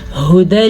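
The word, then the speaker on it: هدى: سمجھ آ گئی ہوگی۔ ھدی للمتقین، ہا کے تلفظ کا دھیان رکھنا ہے کیونکہ یہ ہا سینے کے اندر سے نکلتی ہے، اکثر لوگ اس کو حو پڑھ لیتے ہیں تو یہ غلط ہے، یہ ہے ہا جبکہ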